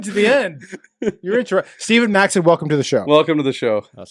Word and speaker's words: Steven Maxted: who is Stephen Maxted? Yeah, it's a. Are we pronouncing it properly? Yeah, you nailed it.